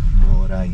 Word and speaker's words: Moray: Is that how you pronounce it, Moray or Maray? Moray.